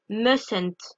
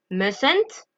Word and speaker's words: mustn't: là attention la prononciation on ne prononce pas le T de must musent d'accord on ne prononce